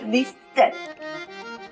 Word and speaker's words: listen: ও লিস্টেন। এখানে টির উচ্চারণ হবে না, উজ্জ থাকবে।